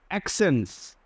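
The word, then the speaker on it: accent: একিউজ একিউজ এরপরে দেখো double সির পরে যদি ই এবং আই থাকে ডাবল সি এর পরে যদি ই এবং আই থাকে তাহলে প্রথম যে সি টা হবে সেটার উচ্চারণ হবে কেই এবং সেকেন্ড সি টার উচ্চারণ হবে মানে ছ এর মত তো আমরা একটু চেক করে দেখি এখানে এক্সেন্টস এক্সেন্ট এই দেখো এইটা হচ্ছে খে এটা হচ্ছে স্যান্ট এক্সেন্ট এক্সেন্ট এক্সেন্ট এক্সেন্ট দুই ধরনের উচ্চারণ হয়েছে সিটা একবার হয়েছে খিটা একবার হয়েছে স এরপরে দেখো এখানে সাকসেস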